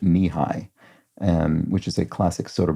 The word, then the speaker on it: Nehi: It's what I used to assume was pronounced Nehi, but I think it's pronounced Nihai, which is a classic